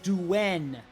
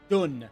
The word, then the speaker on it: Dun: anything from Liu B shaho duen not dun shaho D I'll neither